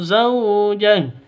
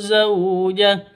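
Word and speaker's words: زوجه: Lahu zauja salah, lahu zauja salah, 'lah' yang benar. Wa aslahna lahu zaujah. Cara yang benar adalah zaujah seperti itu.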